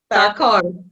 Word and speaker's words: Tharkur: Tharkur. Is it Tharkur? You have to help me. Pronounce it for us. Tharkur. Tharkur.